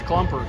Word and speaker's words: Klumper: Good correction there by the PA announcer. Helps me out on the pronunciation. That's Klumper. Comes in for the Bulldogs.